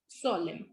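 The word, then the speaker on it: solemn: जब final spelling sequence M एंड न आते हैं और स्पेशली लास्ट में न आता है तो वो साइलेंट होता है. ठीक है. जैसे कॉलम, कंडेम एंड सोलम.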